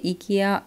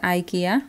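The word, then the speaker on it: IKEA: সাইফ রহমান উনিও কমেন্টে লিখেছে যে ইকিয়া না আপু, ইটস আইকিয়া, ওকে আমি এটার বলে দিয়েছি।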